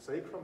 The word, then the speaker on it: sacrum: The weight-bearing part of the pelvis, I was going to ask my wife actually how to pronounce it. Is it sacrum or sacrum?